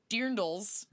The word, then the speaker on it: dirndls: This is just for us to hang out with you, get some cocktails, show off our dirndls. Oh, is that the right way to say it? Yes, dirndls?